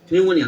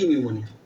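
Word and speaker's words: pneumonia: কারণ ফুসফুসের সবকিছু কেন বলি হচ্ছে পালমোনারি, পালমোনারি পি, ওইখান থেকে আসছে হচ্ছে পি নিউমোনিয়া, বুঝতে পারছো? পিটা উচ্চারণ করে না।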